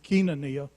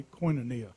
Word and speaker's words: Koinonia: south of real pronunciations Keenan Nia but in the south we made it perfect call a Koinonia but uh no there's